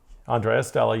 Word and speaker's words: Andrea Stella: Andrea Stella. Did I say that right? Andrea. Andrea. Andrea Stella. Now I'll put it up there for you. This one you were confused about. Andrea Stella.